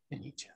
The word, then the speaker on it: Fenice: Pronounce it for me. Ufomammut. No. The album. Fenice. Fenice.